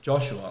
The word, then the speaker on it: Josuha: I'm like, "It's Joshua."